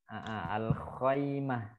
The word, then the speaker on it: الخيمة: Fil khaymah ya. Kita bacanya al-khaymah.